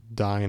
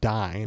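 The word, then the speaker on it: Dáin: uh I want to say about I just pronounced for the first time dying iron foot correctly so I've always said D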